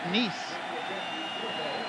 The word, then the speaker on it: Niece: hurricane that'll bring on robert niece as in nephew and niece that's how it's pronounced from the 25-yard line